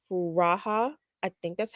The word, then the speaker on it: Furaha: who's my age and her name is Kenya furaha I think that's how